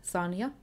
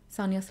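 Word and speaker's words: Sanja: names in the future here's how I would pronounce them I'm saying this is the correct way to pronounce them or how the author intended for you to pronounce them but this is the Finnish way to say them the protagonist noryeok idea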